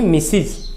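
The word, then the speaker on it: Mrs.: Mister, इसका स्त्रीलिंग है, इसको पढ़ते लिखते हैं लेकिन उच्चारण है मिसिज, मिसिज, मिस्टर मिसिज।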